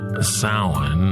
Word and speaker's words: Samhain: It's called Samhain or Samhain or Samhain, depends on your particular Celtic pronunciation, your particular tribe. Americans sometimes say Samhain due to the way it's spelled. And due to the fact that Glenn Danzig once had a band of the same name, and because horror punk record covers rarely come with Gaelic pronunciation guides.